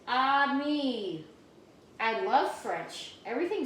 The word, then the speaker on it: ami: The word is ami, my mom says. You say it like this, ami.